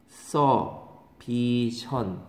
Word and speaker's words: exhibition: 발음이 다르죠? 이그 지 빛. 이그 지 빛. 얘는 엑서비션 이렇게 되는 거죠.